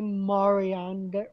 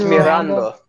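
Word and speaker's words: Miranda: It's by Jose Marianda, or I can't pronounce it in Spanish, sorry. Mirando. It's Mirando.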